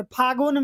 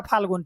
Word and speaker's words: फाल्गुन: सुनिएगा कभी कभी मम्मी लोग से या दादी लोग से, फागुन में है होली, ऐसे करके बोलेगी। फाल्गुन कोई नहीं बोलता, लेकिन उसका शुद्ध उच्चारण होता है फाल्गुन।